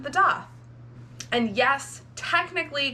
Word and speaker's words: daith: history here behind why we call it the doth in the grand scheme of body piercing this